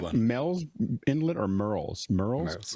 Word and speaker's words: Murrells: Merle's Merle's, Inlet. M-U-R. That was my Nobody accent. can nobody can spell it or say it. Murrells. We say Merle's Inlet because we don't want